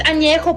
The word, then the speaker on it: Añejo: least you can do is learn how to pronounce the tequilas correctly. Blanca, Reposado, Añejo. What the fuck is Añejo? It's Añejo, puñetas.